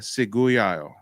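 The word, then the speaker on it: Ciguayo: Okay, so on Haiti, you've got the Taino, you got the Macrox, maybe, and then the Seguyayo. That's how you pronounce it.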